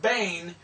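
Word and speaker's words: בן: is final Moon so we have bait SE noon which is Bane which means Sun so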